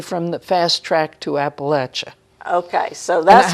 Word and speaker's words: Appalachia: area, and I say, oh no, it's not pronounced that way. It's Appalachia.